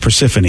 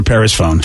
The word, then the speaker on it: Persephone: oh and of course steve mispronounced persephone and called her paris phone and i couldn't believe